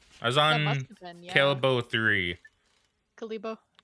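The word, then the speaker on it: Kalebo: was on calabo three kalibo okay kalibo look it's spelled like kale all right I mean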